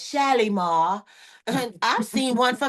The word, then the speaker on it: Shalimar: A Shalomar or like one of my favorite creators says, Shalimar.